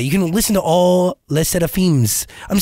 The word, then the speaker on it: LE SSERAFIM: Les SSERAFIM.